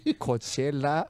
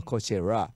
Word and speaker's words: Coachella: I had to make sure I don't pronounce R. It should be L at the end, right? Yeah.